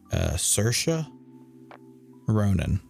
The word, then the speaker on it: Saoirse Ronan: I think her name is pronounced Saoirse Ronan.